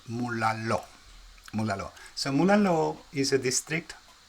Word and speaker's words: Mulaló: Actually, I think I'm pronouncing this wrong, because in Spanish, when the stress is on that little thing at the top of the O, it's called the stress, the accent. It should be pronounced Mulalo.